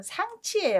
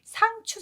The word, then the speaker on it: 상치: 상추하고 하면 안 되고요 표준은 상치 그래요 그냥 사람들이 상추 상추 하니까 상추가 널리 쓰고 있는데요 엄연이 표준은 상치 그요 체 발음이 치로 된 것을 그대로 활용하는 건데 뭐 단어라는게 우리가 많이 쓰면 그게 단어가 돼 버리잖아요 저도 상추하고 해요 상추하고 잘 안 하게 되더라고요 남을 채 발음이 치대서 상치 맞지만 상추도 맞는 걸로 하고 있다고 합니다 그래서 항상 우리가 먹는